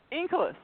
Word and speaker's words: Inkelas: How do you pronounce that? Inkles.